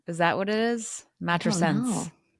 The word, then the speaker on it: matrescence: Mattress sense. Matrescence. Close enough.